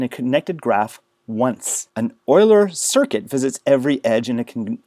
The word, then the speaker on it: Euler: paths and euler circuits notice this is pronounced euler like an oil can or the edmonton oilers i always think the